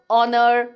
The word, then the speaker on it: honor: house or hut and it becomes a vowel if you say r honor we don't say the h so yes silent h